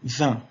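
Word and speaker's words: vingt: Attention, 20, je ne prononce pas le GT. Là, on touche le GT à la fin. 20, je dis 20.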